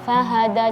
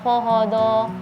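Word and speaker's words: فهدى: Tadi bacanya hod. Nah, jadi kalau huruf-huruf tipis usahakan angin itu keluar fahada jangan fodo.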